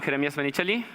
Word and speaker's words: Jeremias Menichelli: about me I'm in creamiest initially I'm pronouncing my name like that because I'm from Argentina and currently I'm living